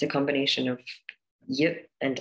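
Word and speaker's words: Я: And finally, there was letter Ya, and the way you pronounce it is the way in German you say Ja, like an R backwards, and in Ukrainian it means I, right?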